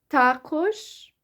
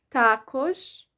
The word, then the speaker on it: також: And the last word is також, means too or also. Також or також. So також or також. So either the stress is on the first syllable or the second syllable.